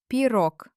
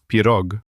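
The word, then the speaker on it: пирог: Now, look at a very delicious Russian word, pirog, pie. Let's find the stress here. It falls on the letter o in the syllable rog.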